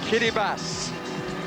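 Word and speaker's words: Kiribati: there ah the country Kitty bass not spelled like that but that's how it's pronounced let me assure you the former Gilbert islands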